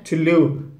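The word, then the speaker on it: Thule: Most of us call it एज थ्यूले, बट इसकी actual pronunciation है थुलू। I know it sounds a bit weird, but that's what it इज।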